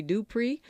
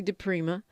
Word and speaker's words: DiPrima: then radio I know you all like to call me dpri but it's actually de Prima I don't care as